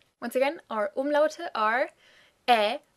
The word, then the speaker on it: ä: Ä is somewhere between an E, a German E sound, and the English A. Like in, I don't know, cat or fat. You could try sliding from an E into an A. Basically, you do an E and then you open your mouth further.